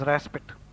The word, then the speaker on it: respite: Though the spelling is R-E-S-P-I-T-E, the pronunciation is raspit.